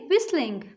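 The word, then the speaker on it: whistling: इसमें T silent हो जाएगा, हम इसको बोलेंगे विस्लिंग।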